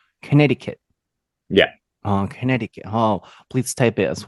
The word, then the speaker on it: Connecticut: it in in Japanese there's like a silent c it's like connected I don't know how you would say in Japanese something like that Connecticut yeah oh Connecticut oh please type it